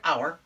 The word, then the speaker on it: our: we take small words like our, O-U-R, O-U makes the ow sound, and we put an R on it, we get our, then we take an F and put an F on it, we get four.